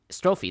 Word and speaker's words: strophe: It is It is strophe, yeah. Oh. It's a Greek word. Who's such a cute kitty? Uh Uh I hear I hear it pronounced uh strofe a lot.